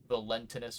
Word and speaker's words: Valentinus: I kind of want to just call him Valentine, but I know it's not Valentine. It's like Valentinus or Valentinus.